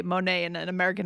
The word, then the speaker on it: Monet: And I'm like, Monet, right? This is a French artist. We also say Monet. We're trying to, or you know, we're trying to say it the way they would say it.